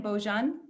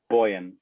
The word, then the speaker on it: Bojan: And then I also get say it again, Bojan. Boyan. Boyan, then I get the pronunciation.